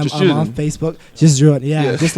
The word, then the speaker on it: JUSJRDN: You got to spell this one I out, was too. gonna say my name is just Jordan, and this is the artist in me, and it's a little fucked up. I understand. It's JUSJRDN. We'll say it one more time.